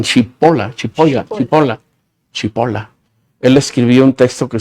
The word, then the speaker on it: Cipolla: Hay un filósofo francés, Cipolla se escribe, y yo digo que le dicen Chipola.